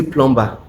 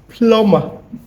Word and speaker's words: plumber: I thought it was clear by now that this is pronounced plumber. Plumber plumber, not plumber. The B is silent.